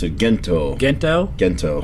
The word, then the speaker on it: Gento: Gento. Okay, with the hard G. With the hard G instead of the G instead of the Gento.